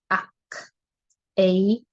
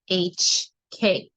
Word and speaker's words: Oc: And this is pronounced, it's spelled OC, but it is pronounced as AHK, AHK.